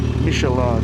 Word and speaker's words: Michelin: ko talaga na gulong is michelan yes michelan yun ang tamang pronunciation siya michelin Mitelin it's me sharottle